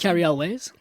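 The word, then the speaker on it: Cary Elwes: How do you say that? Carrie Elways. Yeah, Carrie Elways.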